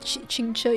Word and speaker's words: Qingce: Damn, you said Qingce in such nice pronunciation.